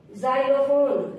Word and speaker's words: xylophone: जाइलोफोन, XYLOPHONE, जाइलोफोन। वाई का उच्चारण य, ई और ई कब होगा, वाई एक सेमी बाउल है और एक कॉन्सोनेंट भी है।